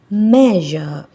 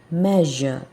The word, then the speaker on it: measure: word yes measure measure sound measure sound measure which is wrong English so you should pronounce the S letter here as measure measure not sh it's should be measure so while you are